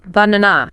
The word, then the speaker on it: banana: Think of a word like banana. banana. We stress the middle syllable, right? Yeah. So what happens to the other two A's? They become schwas.